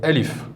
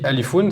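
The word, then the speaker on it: ألف: Donc Alifoun, c'est écrit Alifoun, mais rappelez-vous, si on s'arrête dans la prononciation à la fin, on fait comme s'il y avait un soukoun. Donc on va dire Alif. Donc celui qui dit Alifoun, c'est pas grave, c'est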